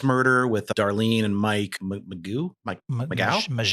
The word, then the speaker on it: Mageau: Yeah, even the first murder with Darlene and Mike Mageau. They pronounce it kind of French.